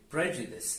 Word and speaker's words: prejudice: it be okay so the word is Prejudice and the silent e at the end of words we leave it alone and don't pronounce it we don't pronounce it at all okay okay guys great